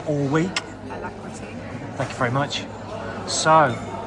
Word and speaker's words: Alacrity: And how do we pronounce the name of the boat? I've been saying it wrong all week. Alacrity.